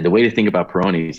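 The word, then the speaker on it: Peyronie's: least the baby's got soft skin what is Pyrenees disease am I pronouncing peyronies Pyrenees oh peyronies peyronies peyronies is when guys have curvature to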